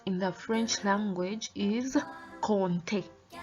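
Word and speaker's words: compter: to count in the french language is conte conte please notice the pronunciation of that word conte conte so i'm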